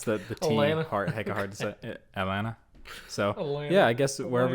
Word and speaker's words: Atlanta: in it in atlanta it's not atlanta it's atlanta atlanta atlanta you know like you don't really pronounce that atlanta so yeah i guess